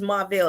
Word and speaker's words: Marvel: Okay, so my name is Marll and it's M A R V L and it is spelled Marvel. So it's like the Marvel comic.